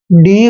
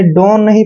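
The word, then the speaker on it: done: डी ओ एन ई इसको आपने डो नहीं पढ़ना है यहां पर एक्सेप्शन है अलग है ठीक है ना इसको पढ़ते हैं हम डन डन मतलब किया गया यह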